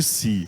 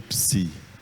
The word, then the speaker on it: psi: Vamos chamar essa letra de psi. Não de si, mas de psi mesmo, ok?